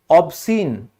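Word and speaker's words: obscene: ठीक है, अब ऑब्सीन हो चाहे आपका ये, भाई तूने वो सीन देखा, तो आप खुद देखोगे इसको आप क्या कहते हो, सीन बोलते हो, क्योंकि ये सी साइलेंट है।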